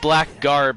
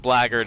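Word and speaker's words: blackguard: pronounce that word because it looks like black guard but i think it's pronounced blaggered and it's something and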